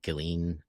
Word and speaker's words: Ghislaine: Uh, yeah, it's he was also had his girlfriend or whatever, hate her name, I can never say it right, Ghislaine.